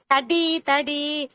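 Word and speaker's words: कटीतटी: கடிு சொல்லக்கூட கடி கடி கடி தடி அருணாருண கௌஷம்பர பாஸ்வத் கடி தடி தாவ நல்லா அழுத்தி சொல்லணும் டிதான் முக்கியம் அத டான்னு உச்சரிக்கறீங்க சொல்லக்கூடாது அந்த மாதிரி இன்னொரு தடவை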